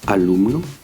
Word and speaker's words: alumno: exemple sur le mot alumno, ce qui va se passer, c'est que c'est l'avant-dernière syllabe qui est tonique. Le mot alumno, par exemple, se termine par une voyelle. C'est donc l'avant-dernière syllabe qui est tonique.